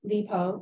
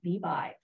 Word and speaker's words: Li Bai: Li Taipei is the courtesy name of the Tang Dynasty poet known as Li Po or Li Po, or in colloquial pronunciation, Li Bai.